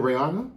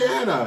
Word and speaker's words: Rihanna: Is it Rihanna? Yes. I just be mispronouncing everything, don't I? I thought it was Rihanna. It's Rihanna.